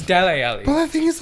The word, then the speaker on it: Dele Alli: dressing room you're lazy it's deli alley well that thing is like they break i got ripped in the comments for pronouncing his names like whatever man they brought